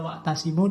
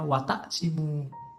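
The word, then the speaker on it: وَاعْتَصِمُوا: Harusnya wa'tasimu, dia membacanya wataksimu.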